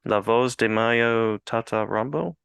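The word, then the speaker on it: La Voz de M.A.Y.O.: Tata Rambo: you might have to help me with the pronunciation here Laos de Mayo Tata Rambo that is it yeah all right all right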